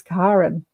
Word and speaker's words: Karen: It's the Scandinavian pronunciation of the name Karen.